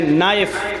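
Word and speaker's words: knife: शन बोला नहीं जाएगा जैसे इंग्लिश में नाइफ किसको कहते हैं चाकू को नाइफ के माना चाकू लेकिन के लिखा जाता है बोला नहीं जाता वह साइलेंट रहता है नी माने घुटना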